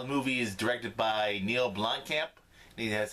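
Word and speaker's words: Neill Blomkamp: I'm going to go see the movie Chappie, seeing how the movie is directed by Neil Blomkamp.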